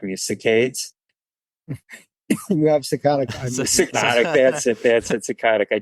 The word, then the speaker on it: saccadic: You have saccadic.